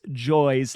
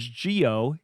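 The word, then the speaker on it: Gioe: I had been pronouncing Cherry knows Joyy's last name as Gio in the American pronunciation, but it does turn out that his name, which is spelled G I O E, is actually pronounced joy in Italian.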